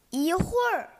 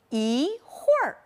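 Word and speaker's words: 一会儿: ，一群，一会儿。最后一个词还要注意读准儿化音，一起再读一读，一会儿。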